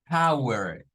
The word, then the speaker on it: power: de esta la palabra no se debe decir como po u sino como p Power Power Power el la o en el inglés A veces suena a o u y a veces suena a a u en esa palabra es a u precisamente el sonido Bueno